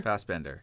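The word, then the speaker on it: Fassbender: tits MH they're pretty nice Michael Frost F fast Bender fast Bender yeah wow how did you not pronounce that properly uh oh Prometheus he was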